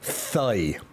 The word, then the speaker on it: thigh: tie work outside ooh thigh workouts the thing is I told you guys about this before with the um uh which uh Irish and we generally don't pronounce the h after T's so when I read